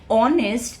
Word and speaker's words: honest: Then we have an for all vowel sounds and exceptions could be uh the word honest and honorable. Okay. Where the sound of h is not pronounced.